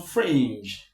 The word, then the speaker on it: fringe: In this case, in the case of infringe, infringe, infringe, the stress is on fringe. So this is less stress. The voice goes down and goes higher as we come to fringe.